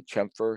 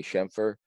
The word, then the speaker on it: chamfer: Shem fur or sorry some people say I say it wrong or chamfer in the in the US they say chum fur and the Quebec they say Shem fur so you can go